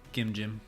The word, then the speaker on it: Gimjim: Gim Jim. Yeah, Gimjim. Hard G, soft G.